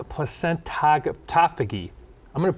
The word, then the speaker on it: placentophagy: Today, in nutrition in the news, we're talking about something called placentophagy. I'm going to pronounce that again.